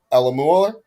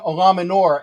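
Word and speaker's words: Eluemunor: hope we play jermaine ella mueller i think i said it right i don't know i'm gonna i'm gonna get you there his name is jermaine olaminor and the reason why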